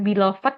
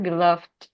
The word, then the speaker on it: beloved: Terus untuk yang beloved, itu tuh bukan beloved ya teman-teman, tapi beloved. Jadi untuk yang belakangnya kan ini ada yang pakai d, ada yang teh, terus ada lagi ed gitu ya di lafalkannya.